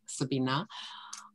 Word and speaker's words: Sabine: I know it's a German name, so I pronounce it Sabina.